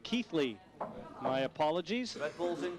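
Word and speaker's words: Keighley: table now for the keegley q boy well i've just been told i've been mispronouncing chris melling's hometown keithley my apologies red bull's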